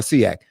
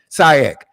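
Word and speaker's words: SIAC: Um and and is it Sak or Seak? Sak. S I A C. Uh Auburn. Did I pronounce that correctly?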